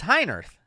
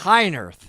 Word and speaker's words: Heinerth: did why is it it's high on Earth it's not Hein Earth yes Jill heiner Jill